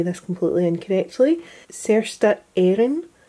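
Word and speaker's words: Saorstát Éireann: say this completely incorrectly, Sersta Éireann, I believe is how you pronounce that, which means Irish Free State.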